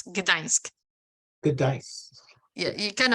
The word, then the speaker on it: Gdańsk: It's Gdańsk. So it's like Gdańsk. you have the N is kind of a little bit softer. It's like in a Spania, but not as long. It's Gdańsk.